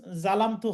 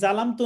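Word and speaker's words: ظلمت: আল্লাহুম্মা ইন্নী জালামতু নাফসি অনেকে পড়েন, বাংলাতেও এভাবেই লেখা থাকে, ভুলই লেখা থাকে। এই জন্য বাংলার মাধ্যমে আমরা কেউ পড়বো না, বাংলাতে উচ্চারণ করে আমরা কেউ পড়বো না, ঠিক আছে? তাহলে জলামতু হবে।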